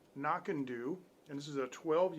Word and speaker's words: Knockando: but uh this is called this is actually pronounced knock and do and this is a 12 year single malt